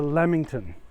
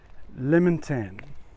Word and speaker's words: lamington: I realized it's phonetic it's a lamington but because of the Vietnamese pronunciation the they've been saying lemon tan and they're written on the on the Box in two words lemon and tan so I I can't